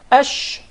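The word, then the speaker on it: ش: So the sheen is articulated from the middle of the tongue, and what lies opposite to it from the upper palate, or the roof of the mouth.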